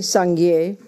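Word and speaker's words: སངས་རྒྱས: de toutes ces ordures, the second syllable, mais seconde syllabe, gye, sangye, guier, dans le mot sanguier, Buddha, Bouddha, implies donc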